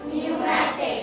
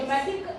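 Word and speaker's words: pneumatics: व्ट does it call नूमेटिक नूमेटिक am silent है आपका और बाकी है न्यूमेटिक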